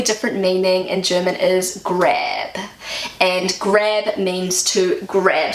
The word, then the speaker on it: Grab: meaning in German is grab. And grab means to grab something. I'm so hungry, I'm just gonna grab an apple. And in German, grab is pronounced Grab. grab, which means grave, like a headstone.